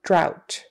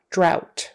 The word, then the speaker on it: drought: So bow and drought. Although sometimes that is pronounced drought. But anyway, it is an example of how you can pronounce O-U-G-H as ow, drought, meaning no water for a very long time.